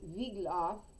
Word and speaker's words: Wiglaf: his men except for wiglaf and i suppose that would be pronounced vigloff in uh in sweden all the wig lock